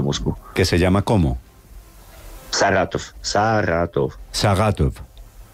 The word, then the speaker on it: Saratov: Saratov. Sí, con R más pronunciada, es que yo no sé pronunciar la R bien. Saratov, esto.